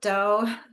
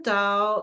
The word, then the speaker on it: Tao: alphabet a little because it sounds like it starts with a d so you may see it spelled with a d occasionally and lau said the true da is something that cannot